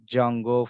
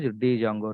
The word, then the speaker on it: Django: have jungo framework workk where D is silent that's why people are calling like Jango framework Jango or else you can also call as Django no problem got it